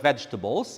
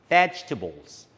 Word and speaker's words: vegetables: Okay, take care when you pronounce this word vegetables. It is pronounced vegetables.